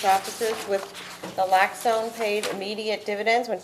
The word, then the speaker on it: naloxone: equip themselves and train for the use of naloxone, is that how it's pronounced?